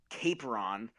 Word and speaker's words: Capron: is it pronounced Capron or Capron? Yeah. So Capron.